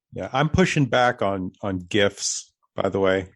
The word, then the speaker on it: GIF: I have to say it's GIF, and I'll tell you why, because it stands for graphics interchange format. When we pronounce graphics, I hear the hard G.